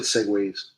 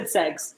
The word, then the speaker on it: segue: always said segways. Like the segways. Yeah. You know, like the little motorized Yeah. one person thing. Yeah. You just said segs. But that's how it's spelled to me.